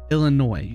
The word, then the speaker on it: Illinois: I'm sorry I think I'm saying it correctly Illinois don't say the S okay uh her bio